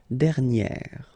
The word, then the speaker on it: dernière: Okay, and you will get dernière.